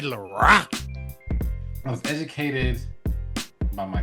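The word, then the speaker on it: Laroi: It's not Lo. Lar. Kid Laor.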